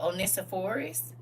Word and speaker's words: Onesiphorus: Oh, Onesiphorus. One sip Horus. One sip Horus. That's the easy way to spell it. One, like the number one, sip Horus, and it put it all together.